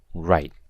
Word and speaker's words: write: And finally we have the word write with a silent W.